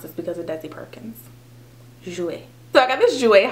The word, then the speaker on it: Jouer: I only know how to pronounce this because of Desi Perkins. Jouer.